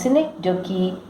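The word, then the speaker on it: synecdoche: A cynic donkey, pronounced cynic donkey, is a member of the figurative language family.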